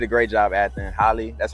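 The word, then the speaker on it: Halle: and she did a great job at the Holly that's how you pronounce her name great job great job uh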